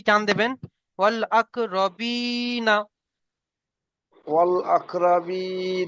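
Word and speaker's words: والأقربين: ওয়াল আকরা রবি, নুন যাবার না, অল আকরাবি না, বি টান দেবেন, ওয়াল আক রবিনা।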